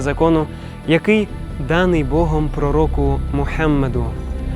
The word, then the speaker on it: Мухаммед: і Мухаммед його пророк Зверніть увагу що ім'я пророка Мухаммед необхідно вимовляти правильно інакше свідчення не будуть дійсними літеру Г В цьому імені необхідно промовляти м'яко з придихом А якщо людина не